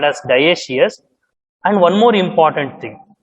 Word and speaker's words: dioecious: We pronounce it as dioecious.